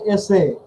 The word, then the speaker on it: এসে: থাকবে, আর এটা হচ্ছে এসে ESS, বুঝতে পেরেছো কি? জি। হ্যাঁ, এটা ভুল করবে না। তাহলে এটার উচ্চারণ কি হবে, এসে। এসে, রাইট। হ্যাঁ, এটা ইজি না।